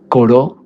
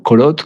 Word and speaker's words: Corot: Ayer estábamos hablando de Coró, ¿cierto? o Corot, como lo quieran pronunciar el pintor Camil Coró, y también sus apuntes, ¿no?